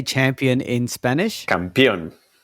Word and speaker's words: campeón: Campeón. Campeón. Okay. It's not championa. as you wrote it in your notes.